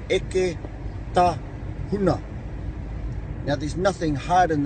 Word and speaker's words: Eketahuna: It's Eketahuna. Now, there's nothing hard in this particular place name. I suppose the hardest thing would be pronouncing your vowels, and they're all short. There's no stressed vowels in it.